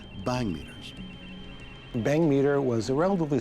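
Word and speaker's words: bhangmeter: two light sensors called bang meters bang meter was a relatively simple device designed to detect flashes of light it's spelled b-h-a-n-g it's actually named after a drug using an indian term a drug that if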